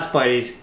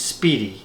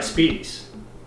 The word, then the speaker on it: Spiedie: pronounced his pleiades and it's not Spidey's it's speedy is how you pronounce it so I think I can do a commercial for now and I could be like hey try Speedy's it's not Spidey's hates